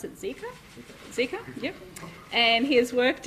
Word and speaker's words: Zika: the 2009 flu pandemic ebola and do i pronounce it zika zika yep and he has worked in brisbane rockhampton